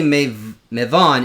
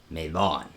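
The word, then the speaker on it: Mevon: And just remember, technically Mavon is M-E-V-O-N. Maven is M-E-V-E-N. Maven, Mavon. So they're not spelled the same.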